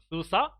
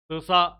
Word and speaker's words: SUSE: have It is written SUSE like this however pronounced SUSE SUSE Linux then we have CentOS Linux which is